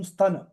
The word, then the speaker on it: स्तन: है ना अहो बकीयम स्तन स्तन सा ता अदा इ का उच्चारण क्या इ है क्या यहां पर सतन कालकूटम हर जगह पर यही ध्यान दीजिएगा ठीक है चलिए इनके